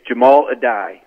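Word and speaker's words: Addae: um but reportedly uh give us the pronunciation one more time mike we're going with jamal a die is that what we're going with here yeah it's jamal adai correct all right good stuff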